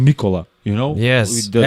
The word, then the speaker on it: Nikola: Nikola. That's how. that was the surname. That is the right way to pronounce our names.